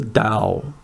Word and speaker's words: Tao: It seeks out the Tao, sometimes pronounced like a ta, sometimes with a d. Again, I don't speak Chinese, but I believe the da is more correct.